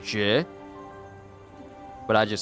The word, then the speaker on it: Jue: In Chinese, it's pronounced Jie. Jie. So it's not like two syllables. It's just like Jie.